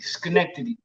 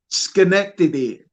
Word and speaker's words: Schenectady: the town that you're in in New York Schenectady Schenectady the that is also home to a Pro